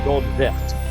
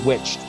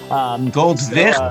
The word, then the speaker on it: Goldwicht: By the way, if you're wondering how it's pronounced, if you didn't know it, that's Goldwicht. That's not witched. Goldwicht, and